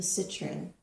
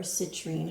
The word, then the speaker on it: citrine: your reading you chose the citrine or citrine however you like to pronounce it i like citron but this is a